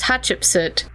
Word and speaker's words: Hatshepsut: class, because it was the name is Hatshepsut, but I was taught to remember it as Hatcheapsuit.